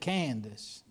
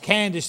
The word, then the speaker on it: Candace: Do you see three syllables there? That there's not the way you say it in hillbilly. In hillbilly, you say that Candace. Okay, so we'll teach them how to pronounce it.